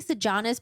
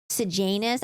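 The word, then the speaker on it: Sejanus: this in my head I kept saying sanis but I know it's pronounced sanus I don't know I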